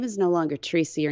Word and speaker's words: Teresa: So my given name is Teresa Joy, but I never liked the name Teresa. 3 syllables, Teresa, and it's very sharp with a T and an R and a So I thought, I got to do something else.